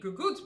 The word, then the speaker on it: cucuzzi: So because it's a squash plant, and I know, though I haven't grown many gagoots before, and it's spelled C-U-C-U-Z-Z-I, so it's Cucuzzi, I guess in English, but I know that squash plants don't like to have their roots disturbed.